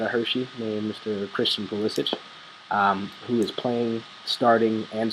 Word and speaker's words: Pulisic: So Christian Pulisic will be coming. I believe he likes to pronounce it Pulisic, but he'll be coming with us.